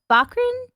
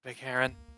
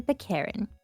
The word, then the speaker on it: Bearin: to them about Valia bakran uh how is your last name her name it it's supposed to be bearin yeah I pronounced it wrong bin okay Valeria bearin uh Valia bearin came